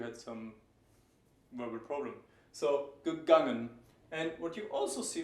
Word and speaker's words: gegangen: You wouldn't say gegangen unless you had some verbal problem. So, gegangen.